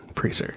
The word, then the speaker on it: Presar: Presar.